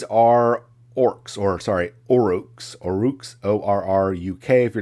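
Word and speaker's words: Orruk: spelled with an a orcs are now or rooks o-r-r-u-k that sort of thing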